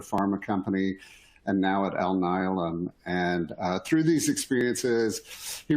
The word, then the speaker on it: Alnylam: How do you pronounce it? Alnylam. Alnylam, yeah.